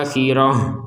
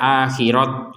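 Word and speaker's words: آخرة: membaca ya Bil akhirah membacanya sebagai huruf ha Kenapa dibaca sebagai huruf Ha akhirah kenapa tidak dibaca akhirat misalkan karena kita berhenti di sini dan karena ini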